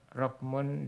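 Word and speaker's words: رَقْم: Ada kesalahan yang tersebar luas, di mana kata rokmun ini diucapkan dengan difathahkan qafnya, jadi rokom ya, rokom. Yang benar dia rokmun disukunkan qafnya.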